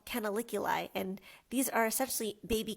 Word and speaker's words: canaliculi: And then we have in the yellow lines what we call canaliculi.